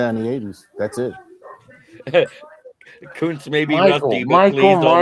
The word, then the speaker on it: Kuntz: Rusty Kuntz, and if you say it the way it's spelt, it's not good to say on the air. But anyway, Is it like a Roy Waugh thing? yeah, it's Kuntz. It's Kuntz in German, but you know what